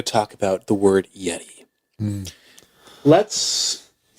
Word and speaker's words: Yeti: I will all right actually not the correct pronunciation is yet I okay all right so